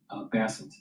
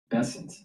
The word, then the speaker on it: Bessent: So, let's uh let's go back to Basset. Bessent. it's pronounced in this weeks and we will continue as needed.